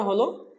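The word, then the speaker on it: حاء: জিম তারপরের হরফটা হলো হা হরফটা আমরা এক আলিফ টানবো হা হরফটা যখন আমরা বলবো তখন কণ্ঠনালীর মধ্যখান থেকে কণ্ঠনালীর মধ্যখান থেকে বলবো এটাকে আরবিতে হলক বলে হলকের মধ্যখান বা কণ্ঠনালীর মধ্যখান থেকে আমরা বলবো হা তারপরের হরফটা হলো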